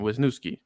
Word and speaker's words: Wisniewski: I can never pronounce his last name. Wisniewski.